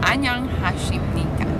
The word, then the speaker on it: 안녕하십니까: 안녕하십니까.